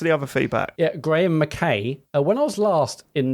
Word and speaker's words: McKay: McKay is pronounced like tie, lie, guy, buy, etc.